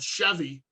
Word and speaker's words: Sheavy: stoner rock bands is a band called Chevy. Not spelled like the car, it's spelled SHEAVY, like S heavy.